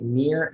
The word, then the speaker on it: Nir: go to my website near and far calm it's spelled nir like my first name so nir near and